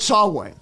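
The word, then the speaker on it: Samhain: bury their dead Lord sway that's spelled s m ha a i n that's the historical druidic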